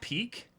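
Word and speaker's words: Pieck: yeah yeah it's pronounced peak peak literally piku in japanese wow i i'm disappointed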